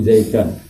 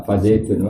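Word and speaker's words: زيدًا: Hikayah itu kayak gini loh, misalnya darabtu zaidan Fazaidan maf'ulun bih. Kamu enggak boleh baca Fazaidun.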